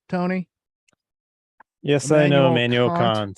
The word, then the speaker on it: Kant: Yes, I know Immanuel Kant. Some people Yes, pronounce indeed. it Kant, but that's not what we say here on the I show. We won't call go him that far.